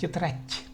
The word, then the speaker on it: тетрадь: Тетрадь. Хоть и в русском языке по-русски мы пишем д, но тем не менее произносится т. Тетрадь.